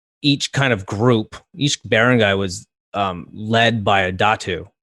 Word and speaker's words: barangay: Yeah, so it's funny, when we did our last video, one of my friends, shout out to Champ, he's like, it's pronounced barangay, not barangay.